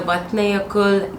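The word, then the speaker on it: Vatnajökull: glacier hiking in the vatnayakul glacier so I'll put the name here because the way you spell it and pronounce it is completely different and I've had a couple of locals correct me so that's why I'm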